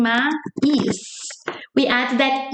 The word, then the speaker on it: mais: It's like we're saying mais. We add that E sound because it ends with S. So mas e mais, they sound the same. They both sound mais.